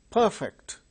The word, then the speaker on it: perfect: But when they are used as verbs, the second syllables are stressed. For instance, conduct, conduct, conduct, conduct, verb, conduct, that is verb, conduct is noun. Perfect, this adjective, is perfect, that is adjective.